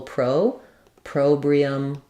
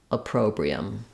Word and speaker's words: opprobrium: pronunciation for you so you might want to start on the stress syllable Pro probium appr probium um yeah thank you